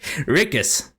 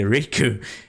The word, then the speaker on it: Rickus: Most people say Riku.